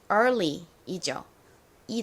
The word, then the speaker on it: early: 일은이라는 의미를 가지고 있는 early이죠이 단어는 앞에 2ar을 써주시면 됩니다 ear은 단어의 끝에 올 때는 보통 이어 에어 소리가 나는데 단어의 앞이나 중간에 들어올 때 R 소리로 쓰이기도 한다라고 앞에서 설명드렸죠 자 고요 그